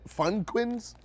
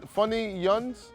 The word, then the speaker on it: Funyuns: Or Fun Funnyuns? Fun yuns fun yuns fun yuns, okay uh cuz they they're called fun yuns cuz they look like onions.